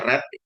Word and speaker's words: read: adalah verb-nya had red ini bacanya red karena had itu harus diikuti bentuk ketiga nah bentuk pertamanya adalah read bentuk keduanya adalah red bentuk ketiganya adalah red ini tulisannya sama bentuk pertama bentuk kedua bentuk ketiga tapi ini bacanya beda read red red nah ini red ini